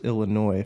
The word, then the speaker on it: Illinois: The S is silent. There's no noise happening in Illinois.